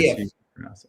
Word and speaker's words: Aliyev: How do you pronounce that name, Chris? Aliyev.